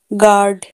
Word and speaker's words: guard: गार्ड, GUARD, गार्ड, यू के बाद ए है तो यू यहाँ पर साइलेंट है।